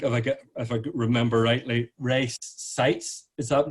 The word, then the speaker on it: Seitz: I think, if I remember rightly, Ray Seitz. Is that pronounced right, Kathleen?